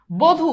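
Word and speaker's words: বধূ: হয়ে গেছে কি রস বধু দেখো এই যে বানানে আছে কি দীর্ঘকার উচ্চারণে সেটা হয়ে গেছে কি রসুকার সিম্পল এরপর খিয় খিয়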